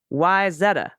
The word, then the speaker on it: Wayzata: good to know and why is otta why Zetta okay cool I got all